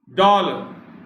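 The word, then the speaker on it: dour: डॉल, डॉल कहते हैं इसको, डॉल। आर भी इसमें साइलेंट सही है एक तरह से, बहुत ही कम प्रोनाउंस होता है।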